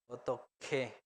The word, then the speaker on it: 어떻게: Recuerden que está hyut abajo y kyok al lado. Entonces, como que el aire de hyut pasa a kyok, entonces otoke. Otoke. 어떻게 Entonces, naiga otoke deseo.